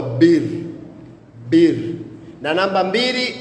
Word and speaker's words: bir: Na namba moja kwa kituruki hutamkwa bir bir na namba mbili utamkwa ikie.